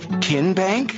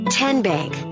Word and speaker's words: TN Bank: the name tn bank no tin bank uh-uh so what is it ten bank ten as in tennessee right here where all